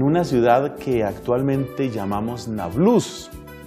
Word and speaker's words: Nablus: San Justino nació en una ciudad que actualmente llamamos Nablus y que queda en los territorios palestinos. Otros pronuncian Nablus.